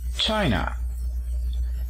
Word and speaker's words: China: el acento en china decimos china el acento se encuentra en la primera sílaba marcamos la primera sílaba